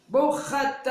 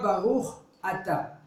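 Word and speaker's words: ברוך אתה: Bouchata. Alors, c'est pas Baruch Ata. Il ne dit pas le nom d'Akadosh Baruch Hu comme il faut. Baruchat. Voilà, Baruchata.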